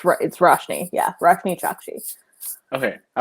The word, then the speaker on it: Roshni: Yeah, it is Roshni, and I always want to say Roshani, and actually I was talking to her and I called her Roshani and I felt terrible, but it's Roshni.